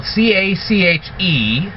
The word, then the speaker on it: cache: of this cache feature as spell CA CH e I know it's spelled that way but it's called cache because of this feature it